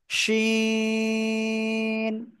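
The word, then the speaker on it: ش: ওকে, ওকে, তারপরে এই অক্ষরটা সা, সা শব্দ করে উচ্চারণ করতে হয়, জিহ্বার মধ্যখান উপরে তালুর সাথে লাগিয়ে, শিন।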